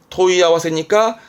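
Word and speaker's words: 問い合わせ: 발음은 토이야와세니까 뭘까요? 우리말로는 그렇죠. 문의하는 걸 토이야와세 하죠.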